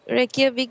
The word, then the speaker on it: Reykjavik: একটা খুব অদ্ভুত উচ্চারণ আছে। It's not as busy as Re- রেকিয়াভিক। Reykjavik, but Husavik in northern Iceland is definitely worth a visit.